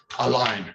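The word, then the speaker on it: Alain: A line. A line. I just tell everyone imagine everyone getting a line.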